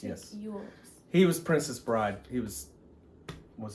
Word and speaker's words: Elwes: Carrie Yules played, I don't know how you say his name.